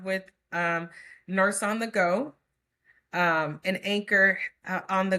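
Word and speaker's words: Geaux: go is spelled G E A U X.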